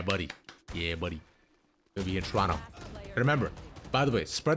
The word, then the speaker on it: Toronto: We do not pronounce the second T. Toronto. That's it. Toronto.